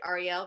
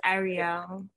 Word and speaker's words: Arielle: Arielle, right? No, it's Arielle.